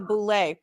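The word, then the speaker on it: Boulé: So the host there pronounced it wrong. Jonathan Odie was correct. It is actually the Boule.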